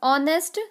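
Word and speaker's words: honest: और ऑनेस्ट servant, ऑनेस्ट में H silent है तो अ आएगा। तो ऑनेस्ट में अ आ रहा है।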